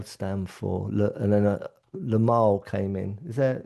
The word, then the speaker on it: Limahl: It's it's Lamar. Oh, Lamar. It's Lamal, and it's spelled Limahl.